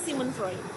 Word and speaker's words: Sigmund Freud: Nah, Sigmund Freud, maksudnya Sigmund Freud, bacanya Sigmund Freud.